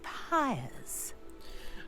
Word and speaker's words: pyre: I am curious about these pyres. You know what pyre rhymes with? Fire!